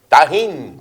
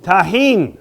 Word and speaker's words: Tajín: Next, how do you pronounce this? Tajín. Tajín, okay?